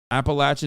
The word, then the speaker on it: Appalachian: Appalachian is how you say it.